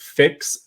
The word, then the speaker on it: Phyx: This is from Better With, am I pronouncing it correct? Fix, F or PHYX. Is that correct? Yeah.